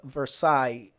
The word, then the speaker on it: Versailles: Now, the word Versailles is spelled different than the way it sounds.